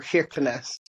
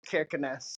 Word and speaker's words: Kirkenes: I think I can't ever quite get it right, but there's a special way in Norwegian of pronouncing a K when it's the first letter of a word.